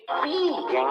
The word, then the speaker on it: pi: Porque pi em inglês se pronuncia pie e é igual a torta.